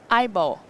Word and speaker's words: IBO: It's pronounced? IBO.